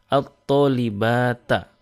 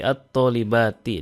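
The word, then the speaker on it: الطالباتِ: Jadi tidak boleh membacanya dengan at-thalibata, tetapi at-thalibati dengan kasrah ujungnya.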